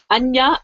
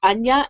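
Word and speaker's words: Áine: Anya is actually how A-I-N-E is pronounced. Anya and the Guardian.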